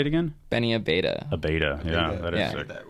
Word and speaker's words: Abeyta: Abeyta.